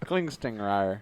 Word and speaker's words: Klingstingrier: Klingstingrier. He Klingstingrier. says that the second G is actually silent.